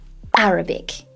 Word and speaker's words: Arabic: He said Arabic, with the emphasis on the first syllable.